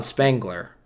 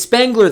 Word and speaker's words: Spengler: it's the character it's egon spangler i might be saying that name wrong it's a econ right igor or something anyway whatever it's spengler the character once it shows